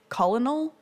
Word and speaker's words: colonel: it written as kernel like a popcorn kernel just to remind me to pronounce it that way i love that english